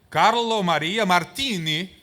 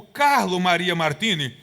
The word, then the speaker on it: Carlo Maria Martini: Eh, il l'accento è italiano perché era un italiano. Carlo Carlo Maria Martini, ele entrou pra comissão de edição.